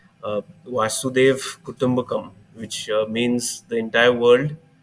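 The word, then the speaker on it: Vasudhaiva Kutumbakam: Masu Kutum. It's called Vasudev Kutumbakam.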